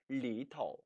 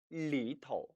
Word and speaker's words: 里头: 이때 头는 머리 두자의 머리가 아니라 전미사로 써주는 것이기 때문에 경성 처리예요. 예를 들어서 안쪽 하면은 里头, 里头. 바깥쪽 하면 外头, 外头라고 발음한다는 것입니다.